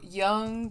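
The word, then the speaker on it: Jung: So Young is spelled with a J as in Carl Young.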